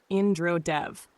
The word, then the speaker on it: Indra Dev: Tonight we speak of Indra Dev, pronounced Indra Dev, the thunder wielder, the rain bringer, the king